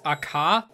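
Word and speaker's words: AQA: Sorry, it's Aka, because there's no U. I don't, how do you pronounce a Q without a U? Is it just a K sound? Well, like, I guess a C sound? I mean, it's about the same thing, really.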